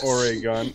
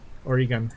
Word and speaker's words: Oregon: second no oh no i'm not saying for a gun i can't see it she's do she's giving you a uh pronunciation oregon okay good um they love living